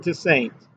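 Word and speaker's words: Toussaint: Liz Allen to Saints. I think I always thought his name was pronounced to like a like a French name, but evidently he he pronounced it to Saints.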